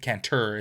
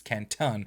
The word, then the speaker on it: Canton: name would be miles Canton with a o at the end so not caner it's Canton so cuz I literally